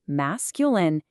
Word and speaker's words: masculine: Then, on the flip side, masculine, pronounced mas cuh lin, meaning of man or male.